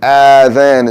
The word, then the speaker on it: adhan: Adhan is wrong, Azan is wrong, and Adhan is wrong. Okay? The proper pronunciation is Adhan.